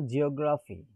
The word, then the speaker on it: geography: Now geography. So here the stress falls on the third from the right, OZ. That is OG.